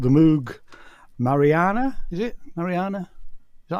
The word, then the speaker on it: Mariana: um I bought the Moog Mariana is it Mariana is that how you pronounce it yeah for the iPad cheap um